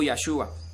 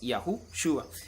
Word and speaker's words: Yahushua: podemos ver un ejemplo, cómo la primera parte del nombre se pronuncia Yahu. Luego Shin y Ayin serían Shua. Y hay 2 veces en la escritura donde el nombre del Mesías, en medio de la Shin y la Yin, que sería la parte final del nombre del Mesías, aparece una Vav, la cual confirmaría que su pronunciación es Shua. Entonces su nombre sería Yahushua, no Yahshua ni Joshua, sino que es Yahushua.